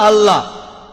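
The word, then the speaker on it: الله: একইভাবে আমরা জানি যে ঠিকভাবে উচ্চারণ করলে আমরা বলবো আল্লাহ। তারা বলে এলা, সমস্যা নেই, তবে সঠিক উচ্চারণ হলো আল্লাহ।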